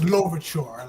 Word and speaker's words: Louverture: Yeah, like it's Louverture, like a long O, L, Louverture.